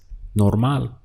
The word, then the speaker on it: normal: And the word for normal is normal. So exactly the same spelling, just we change the pronunciation to normal.